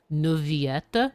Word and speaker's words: Neuvillette: But in French, two L's are sometimes just pronounced as Y.